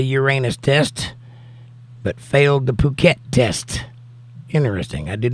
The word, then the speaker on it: Phuket: That's how you pronounce that word. I used that word in some of my shows a long time ago because of what it looks like it says, but that isn't what it says.